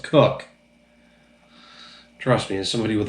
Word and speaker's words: Koch: Jim Koch, because that's how it's spelled. But the man himself has been on the commercials saying, "I'm Jim Cook." So it's pronounced Cook.